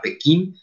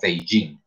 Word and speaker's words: Beijing: las lenguas occidentales y se aclaró que el nombre no era pekín o que la pronunciación no era pekín sino beijing pero es la misma